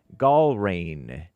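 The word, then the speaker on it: Glein: According to ground news, he endorsed Navy Seal captain drum trumped it uh Ed Grain, if I'm pronouncing it correctly, G l e i n to challenge representative Thomas Massie.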